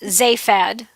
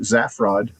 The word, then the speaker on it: Zaphod: So in the United States, it's pronounced Zaphad, like you said. Wait. I pronounce it Zaffrod. Yeah. And then in the UK, it's with a short Zaphod.